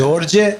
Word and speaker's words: Djordje: Djordje Stijepovic.